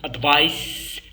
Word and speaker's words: advice: إذا اش قلنا أنه هو ملي تنطق تكتب say advice تنطق advice. Remember like we have ice like we say ice.